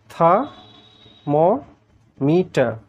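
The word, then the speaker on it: thermometer: এটাকে কি বলে? থা ম মিটা থা টি এইচই আর ম এমও মি আর অর্থাৎ দুটো আর তোমরা যেন সাইলেন্ট থাকে ব্রিটিশরা। কিন্তু আমেরিকানরা কি করছে? আমেরিকানরা ওই আরগুলো সব উচ্চারণ করছে ওরা করছে থার মম ইটার দুজনের যে পার্থক্যটা লক্ষ্য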